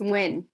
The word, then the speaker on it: Win: last name is what it's win like w-i-n okay all right um